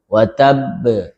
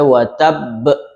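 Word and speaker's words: وتب: Di surah Allahab biasa kesalahannya di tabbat yada abi lahabin watab watabb. Jadi jangan sampai watab be ya. seperti hamzah akhirnya watab be watab oke kemudian dia qalqalah kubra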